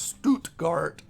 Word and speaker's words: Stuttgart: It's in I think it's pronounced Stuttgart.